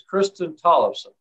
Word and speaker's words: Kristin Tollefson: and bremerton washington and my guest today is kristen tollefson i pronounce that right kristen yes that's right thanks